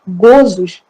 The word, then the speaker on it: gozos: Aqui um parênteses, gozos, a pronúncia é fechada, gozos, das penas e gozos terrestres, felicidade e infelicidade relativa.